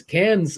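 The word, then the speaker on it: Cannes: Cans is pronounced con as an ex-con.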